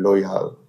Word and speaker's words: Lojal: And a few weeks in I figured out the name Loyal. Uh L O J A L pronounced Loyal. Uh for it doesn't mean anything.